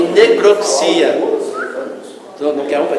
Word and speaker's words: necropsia: Apesar da palavra autópsia ter uma vogal tônica do O, a forma necropsia, que possui o mesmo significado, deve ser pronunciada com ênfase no I. Não é necrópsia, é necropsia.